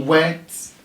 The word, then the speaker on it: whet: part of an individual another word is what because once people hear the word weight they feel every what pronounces weight should be spelled this way when I'm talking about the word having to do we encouraging curiosity he whet my appetite and that spelling is WH et went to encourage suspense